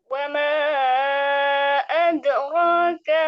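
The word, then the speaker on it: وما أدراك: Wama bukan ad tapi wama ad. Ada pantulan. Wama adra. Wama adraka ma lailatul qadr.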